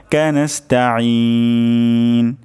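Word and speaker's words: نَسْتَعِينُ: যাবে ঠিক না তাহলে আমরা চেষ্টা করব গলার মাঝখান থেকে উচ্চারণ করার জন্য নাস্তা আইন আইন নাস্তা ইয়াকা নাবুদু ইয়াকা নাস্তাইন শেষের দিকে আমরা তিন আলিফ পরিমাণ টান দিব ইয়াকা নাবুদু ইয়াকা নাস্তাইন নাস্তাইন আমি আরেকবার তেলাওয়াত করি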